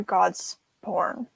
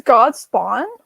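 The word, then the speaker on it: Godspawn: that God's born or God's born not that one I read it as God spawn it's God spawn yeah I thought it was God's born uh like born go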